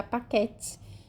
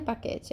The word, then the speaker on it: paquet: Lembrando que a última consoante não é pronunciada, como aqui tá paquete. Não é paquete, é paquet. A última consoante não é pronunciada em francês.